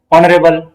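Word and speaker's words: honourable: ह यानी कि एच, लेकिन ये एच साउंड नहीं हो रहा है, साउंड क्या है, ऑनरेबल, ओ साउंड कर रहा है। इसको जब हम प्रोनाउंस करते हैं तो ओ साउंड होता है।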